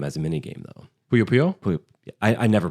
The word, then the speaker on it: Puyo Puyo: Payu Payu is in the game as a mini game though. Puyo Puyo? Puyo. I never pronounce it.